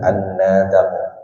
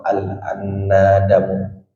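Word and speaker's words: النَّدَمُ: Nabi sallallahu alaihi wasallamunahu annamu taubatun annadamu taubatun minadzambiu minambi minadzanbi kaman lazanbahu alif la nun tapi dibacanya bisa annadamu atau alnadamu kalau mau diarafin alif Awalnya annadzamu itu alif la nun da dan mim tapi dibacanya annadamun.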